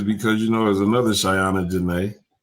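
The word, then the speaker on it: Shaiana: Is it Hers is Shiny? No, hers is Shyana. Like, okay. Her name is spelled S H A I A N A. Like Shy Anna.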